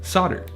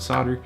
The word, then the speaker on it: solder: a metal alloy called solder. And by the way, yes, I'm aware that most other countries pronounce the L in the word solder.